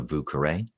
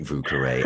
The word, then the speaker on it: Vieux Carré: So I'm a big fan of one called a Vieux Carré. That's the New Orleans mispronunciation of the French words.